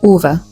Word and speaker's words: Ove: not Ove and it's not O, it's actually Uva.